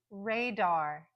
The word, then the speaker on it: radar: in the second syllable another example is Radar Radar you hear the first syllable is the stronger one that's the primary stress but then we hear the very clear Dar radar so that second syllable has a secondary stress so let's compare it